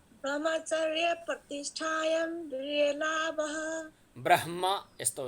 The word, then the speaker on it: ब्रह्म: ब्रह्मचर्य बाबाजी, हजुर आधा ह उच्चारण गर्नुस् न ब्र पछि। ब्रह हो त्यस्तै, ब्रह्म आधा ह उच्चारण गर्नुस् ब्र ब्रह्म ब्रह्म। त्यसमा चाहिँ हामीले भन्नाले मैले म समेतका धेरै जसो हामीहरूमा कतिपयहरूमा भनौँ पहिला ब्रह्म ह भन्न खोजिन्छ, त्यो गलत हुन्छ।